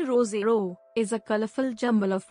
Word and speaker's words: Roseau: roseau framed by lush peaks dominica's capital of roseau pronounced rozero is a colorful jumble